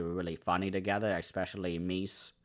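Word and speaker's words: Meas: I thought they were really funny together, especially Mees. I think that's how her name is supposed to be said, but it's m e a s is how you say it, or spell it.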